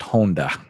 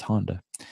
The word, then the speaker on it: Honda: not that good yeah my last name in Japan is pronounced Honda uh-huh and so is that how the car is pronounced was on yeah okay yeah so but I we Americanized it yeah for the sake of everyone that's Honda yeah I mean my parents